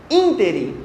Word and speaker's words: ínterim: E essa aqui, que é a única que a gente duvida, essa sim é proparoxítona. Ínterim. O que é um ínterim?